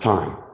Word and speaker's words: thyme: And I know that THYME is, pronounced time.